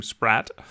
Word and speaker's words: Spratte: Now, she did say it was acceptable for folks from North America who regularly pronounce her name Spratte, but Annette is a